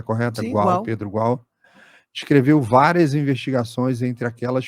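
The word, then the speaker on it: Pedro Gual: de estudos diplomáticos superior de Pedro igual a pronúncia correta qual Pedro igual escreveu várias investigações entre aquelas fronteiras fechadas que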